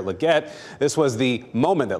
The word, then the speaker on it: Legette: Carolina Panthers select Xavier leate wide receiver South Carolina that was NFL commissioner Roger Goodell with a uh bit of a tough time pronouncing the right name there Xavier Legette this was the moment